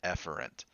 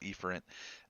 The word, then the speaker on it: efferent: Technically, the pronunciation of those words should be afferent and efferent, but that's so close together, I like to